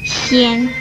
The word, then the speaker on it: 纤: 纤这个字的国语注音是纤，一声纤，吸烟纤，一声纤。